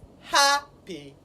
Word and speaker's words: happy: And according to the rule, when the word has 2 syllables and is an adjective, the stress does what? Falls on the first syllable. So it is happy.